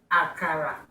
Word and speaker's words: akara: how to make aara I know I said aara the last Edition that's the way Americans say it but we say aara this one a real aara home food from